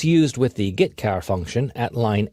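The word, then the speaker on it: getchar: character io functions are get car and put car that's how I pronounce them get car fetches a character from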